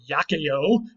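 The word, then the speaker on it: iaceo: The second part comes from the Latin verb yakeo. Remember, C's are always hard in Latin, which was why I'm pronouncing it yakeo.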